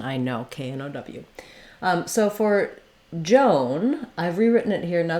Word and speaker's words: Joan: of the time when you see OA together, it's going to have that O diphthong O sound. I've written it here with OH to make it clear that it's the O. We also sometimes spell it with OW, like in snow or no, as in I know, K-N-O-W.